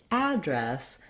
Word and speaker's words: address: of two pronunciations so i've been saying address with the a black cat vowel um so that's one